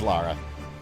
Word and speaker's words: Lara: they spell it Lara it is Lara L A R A Lara Croft a lot of people say Laura it's not Laura it's Lara man who built all them